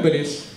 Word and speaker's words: Ballès: On dit Ball ou Ballès? Alors on dit Ballès. On dit Ballès, c'est Toulouse. C'est ça, c'est le sud, on prononce yes.